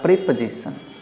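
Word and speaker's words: preposition: Next बताइए क्या बोलेंगे इसे आप प्रीपोजिशन कहेंगे क्या या प्रीपोजिशन कहेंगे। दोनों गलत है। इसका सही उच्चारण होता है प्रीपोजिशन। याद रखें, इसे कहते हैं प्रीपोजिशन।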